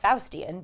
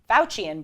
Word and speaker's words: Faucian: including the faucian bargain not the Faustian but fauci faucian bargain excuse me it's a hard